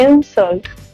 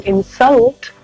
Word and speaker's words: insult: तो आपका जो जोर, आपका जो स्ट्रेस होगा वो पहले सिलेबल पर होगा। जैसे कि अगर मैं इंसल्ट को बोलूं इंसल्ट, तो ये एक नाउन है, इसका मतलब है बेइज्जती। लेकिन अगर मैं इसे प्रोनाउंस करूं इंसल्ट, तो ये बन जाता है एक वर्ड, एक काम, बेइज्जती करना।